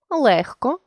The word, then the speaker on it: легко: та звуковий боротьба книжці легко жати ми бачимо що у слові боротьба буква т а звук д у слові книжці буква ж а звук зі у слові легко буква г а звук х і у слові зжати